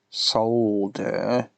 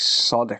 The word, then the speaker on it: solder: solder notice open and solder the proper way with the l in the pronunciation solder none of this soda crap anyone who says soda is saying it wrong